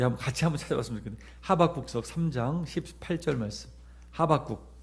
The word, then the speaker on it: 하박국: 제가 어릴 때 잘못 러고 가지고 호박국이라고 읽었었는데 호박죽도 아니고 하박국.